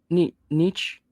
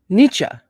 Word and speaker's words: Nietzsche: know how to say that n-i-e-t-z-s-c-h-e Frederick Wilhelm niche Nietzsche anybody can anybody help me phonetically in the chat oh balls excuse me foreign how you say it though so I have to say pronunciation false Nietzsche okay cool Nietzsche thank you nietzscha okay so